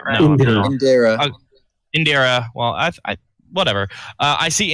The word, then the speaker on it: Indira: Am I pronouncing it right? No. Indira.